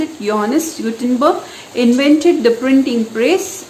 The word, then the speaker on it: Johannes: it is honest as it is a german word so there is no j pronunciation he had to pronounce it and pronounce it johannes gutenberg invented the printing